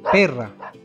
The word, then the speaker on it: perra: La R también suena rr cuando está en medio de dos vocales, solo si se escribe dos veces, así. Como en las siguientes palabras. Perra. Perra se escribe con R, pero como está en medio de dos vocales, la E y la A, la ponemos doble para que suene rr.